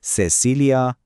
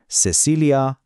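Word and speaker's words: Cecilia: اینجا یه نکته خیلی مهم وجود داره توی اسپانیای اسپانیا این صدا مثل سه تلفظ میشه سسیلیا سینکو ولی تو بیشتر کشورهای آمریکای لاتین خیلی راحت صدای سه میده سسیلیا سینگ خب حالا بریم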